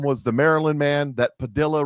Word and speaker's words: Padilla: We sent a couple airplanes down to El Salvador full of illegals and one of them was the Maryland man that Padilla rhymes with armadillo went down and had